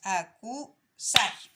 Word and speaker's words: acusar: Estas dos palabras son agudas. ¿Por qué? Porque se marcan en la última sílaba, ¿ya?